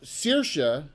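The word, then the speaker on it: Saoirse: the names down already circa which is spelled s-a-o-i-r-s-e that's gaelic i know circa um you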